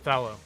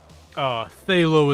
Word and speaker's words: phthalo: Phthalo is how Bob Ross pronounced it, and that is just incorrect. I don't know a single person in my industry that pronounces it Phthalo. That being said, if you pronounce it Phthalo, that's fine. I'm not going to get on you for it, but Thallow is the correct, Thallow is the correct way of pronouncing it, because it's PHTH, which